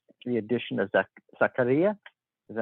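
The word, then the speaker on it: Zakaria: We also have strengthened our midfield with the addition of, let me get his name right, the addition of Zaccaria. Is that how it's pronounced?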